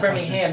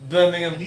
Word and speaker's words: Birmingham: England like to respons if I say Birmingham they're going to say no no it's not Birmingham it's Birmingham have to do that